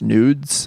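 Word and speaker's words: NVDES: this artist out loud I think it just pronounced nudes but it's spelled nvde s all capital letters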